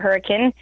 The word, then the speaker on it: Hurricane: it looks like the word hurricane but they pronounce it hurricane it's the closest town to Zion and it's